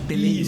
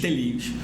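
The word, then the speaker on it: τέλειος: É, a pronúncia é essa. Teleios. Isso. Teleios.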